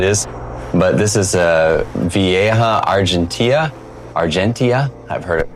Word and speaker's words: Vieja argentea: sure which it is, but this is a Vieja Argentea. I've heard it pronounced both ways.